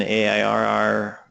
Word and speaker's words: AIRR: kind of awkward but the pronunciation of error that's kind of good so I think we should have Community consensus that is pronounced air it be the open air